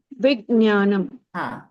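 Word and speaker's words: विज्ञानम्: Vijnanam. Good. So it is this is Vivek Shinaji. So Yes. instead of gya, we will pronounce it jya.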